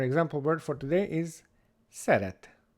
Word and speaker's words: szeret: And our sound S is spelled with an SZ in Hungarian. We call this S, S, so that's the S sound. And our example word for today is szeret, szeret, to like or to love, szeret.